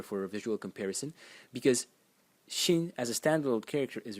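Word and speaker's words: 心: And the semantic element in it is this over here, which is pronounced xin, and it's a heart.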